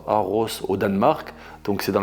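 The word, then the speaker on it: Aarhus: Et puis euh je m'imagine arriver entre le 10 et le 15 mai à Aros parce que ça se prononce comme ça, Aros au Danemark.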